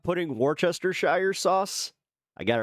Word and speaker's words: Worcestershire: If you're not putting Worcestershire sauce, I got it right.